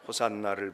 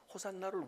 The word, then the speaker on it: 호산나: 발음 그대로니까 호산나 호산나 우리 말은 되게 액센트가 우리가 없잖아요네 외국어는이 히브리어도 또는이 이스라엘 사람들의 언어도 액센트가 있기 때문에 우리는 그냥 쉽게 하면은 호산나 이렇게 얘기합니다 영어로 말하는 사람들은 중간 음에가 액센트를 주어서 호세나